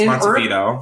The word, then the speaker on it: Montevideo: It's Montevideo. Vito. I think it's spelled E-L though.